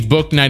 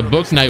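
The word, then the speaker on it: Bouknight: I think I called him Boo Knight in a lot of my, I mean, because you would think like the K is silent. I don't know, maybe you wouldn't.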